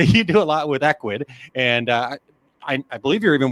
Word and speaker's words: Ecwid: Well, it actually, if I just said it phonetically, it would actually be right. Ecwid.